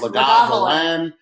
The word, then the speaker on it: Lagavulin: That's how I used to think it was pronounced, though. That's how it went. Remember when I ordered a Lagavulin? Lagavulin.